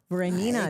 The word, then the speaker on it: Voronina: Voronina.